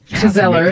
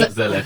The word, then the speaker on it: gezellig: it, and maybe they try to you don't pronounce it that way, but like in a very like Gezeller. For me, Gezellig.